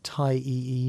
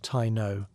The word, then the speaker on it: Taíno: And yes, before you ask, that's pronounced Tai E. No, not Tino.